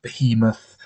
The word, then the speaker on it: behemoth: um apparently the ocean bayou moth yes i pronounce it bayer mother not behemoth the first time although i don't mind people